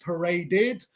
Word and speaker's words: paraded: the par the past tense of parade is pronounced paraded true or false true this is correct why